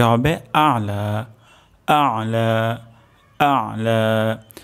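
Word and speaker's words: الأعلى: তো এখানে উচ্চারণটি হবে আলা আইন উচ্চারণ হবে গলার মাঝখান থেকে আর এখানে হালকা পরিমাণ চাপ আসবে রব্বিয়াল আলা সুবহানা রব্বিয়াল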